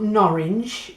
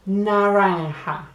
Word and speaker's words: naranja: the word orange and it's not norwich it's not nourish its naranja it's spelt n a a n je a so that je a on the end makes a ha naranja it's funny nara ha